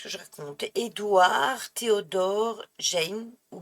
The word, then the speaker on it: Gein: Édouard Théodore Jane, ou Gain, ça s'écrit G-E-I-N, qui est aussi connu sous le nom du boucher de Plainville ou la goule de Plainville.